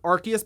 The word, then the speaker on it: Arceus: also it's good to know that it is pronounced pokemon arceus by the way because i saw this going